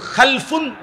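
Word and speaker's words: خَلْف: উচ্চারণের মধ্যে একটু ভিন্নতা মাঝখানে একটা লাম আছে এই লামটার মধ্যে যদি সাকিন হয় তাইলে হল খালফুন আর যদি লামের মধ্যে জবর হয় তাহলে হল খালাফুন আরবি শব্দ এ খালফুন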